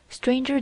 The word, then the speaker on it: stranger: Stranger does not rhyme with anger, neither does devour with clangor.